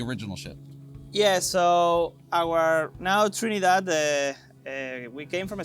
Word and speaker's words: Nao Trinidad: this around the world and the boat is pronounced now Trinidad Trin that yes so the original ship the